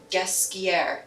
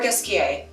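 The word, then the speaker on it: Ghesquière: We're talking about Nicolas Ghesquiere, or Ghesquiere, am I right? - Yes. Yeah. - You can say it either way.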